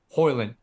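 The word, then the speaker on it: Højlund: Number two, the kid from Atalanta, how do you pronounce his name? Hoyland.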